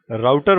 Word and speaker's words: router: और जैसे कि आपको नाम से भी आइडिया लग रहा होगा, राउटर वर्ड आया है वर्ड राउट से, जिसको हम रूट भी बोलते हैं और कुछ लोग इसे रूटर भी प्रोनाउंस करते हैं।